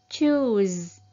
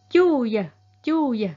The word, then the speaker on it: choose: miệng tới trước á hai chữ o này á các bạn phát âm giống như U Việt Nam mà nó kéo dài một chút á u xong pht âm ghép lại choose Choose không phải là chu chu ha Không phải vậy